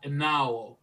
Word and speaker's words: Enaohwo: a little bit difficult in the mouth to pronounce. Itís Enaowho. Tyrone: Enaowho.